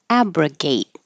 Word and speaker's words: abrogate: started with abrogate and hold that final T so I put that little Mark there to remind you to hold it abgate and this was an